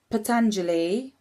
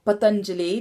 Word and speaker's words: Patanjali: So it's when you look at Patanjali, or Patanjali, depending on how you pronounce his name, who was one of the key gurus who reintroduced yoga into sort of the Hindu and Indian culture.